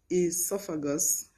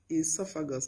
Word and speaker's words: esophagus: edema not oedema edema we have esophagus esophagus not o esophagus esophagus we have enology